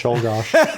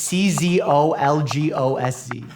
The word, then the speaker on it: Czolgosz: Shouldgosh. It's Czolgosc. Shoal. And speaking, he's Mike is Russian, so you'd think he'd be able to pronounce like an Eastern European name. Oh gosh. By Leon Frank Shulgosh, making him the 3rd U.S.